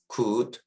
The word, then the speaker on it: could: OULD로 끝나는 단어에서 LD가 이렇게 나왔을 때 L이 묵음인데요. 대표적인 예로는 could, would, 그리고 should가 있습니다.